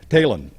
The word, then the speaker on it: Taillon: Hall of Fame, Sai Talon. Now, Elvin Nelson's wife K said that Sai told her that it is pronounced just like Taylor, but you drop the R and you put an N on it.